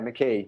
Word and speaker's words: McKee: Tell us about your alter ego, Alexander, and I think it says McKean. Might have pronounced it wrong. Yeah, McKee.